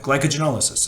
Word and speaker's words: glycogenolysis: and we call this glyco gen esis glycogenolysis right but glycogenolysis that's how it's pronounced so that in conjunction